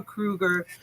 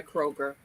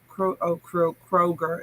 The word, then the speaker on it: Kroger: Yeah, we don't have a Kruger. We have a couple of Walmarts, but I can't stand shopping. That's the secondary grocery store here, Kroger. Kroger, it's pronounced.